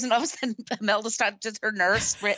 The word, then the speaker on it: Imelda Staunton: It's Imelda Sutton. Is that how you pronounce it? Imelda Staunton.